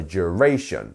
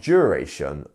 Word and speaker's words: duration: least we have duration duration three syllables here and our stress is on the middle one here so duration not duration or duration is duration practice that one more